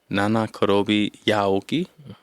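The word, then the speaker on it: 七転び八起き: This next one, let me know if I'm mispronouncing it. Nana Korobi Yaoki. Nana Korobi Yaoki.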